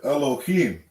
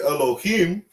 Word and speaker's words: Elohim: How they say that, in the modern Hebrew, they would pronounce it Elohim, right?